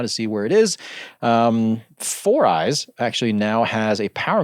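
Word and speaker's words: 4iiii: My understanding is it's supposed to be pronounced 4eyes.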